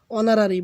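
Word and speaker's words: honorary: অনারারি ভাওলের মত উচ্চারিত হয়েছে।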